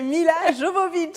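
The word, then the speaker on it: Milla Jovovich: prononciation, allez Isabelle. C'est Mila Jovovich.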